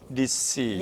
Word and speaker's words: receipt: receipt. receipt. 네, receipt. receipt. 거기도 트로 끝나는데 t를 빼고 트 발음을 receipt.